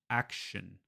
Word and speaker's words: action: But in English, I'm saying shin, shin, action.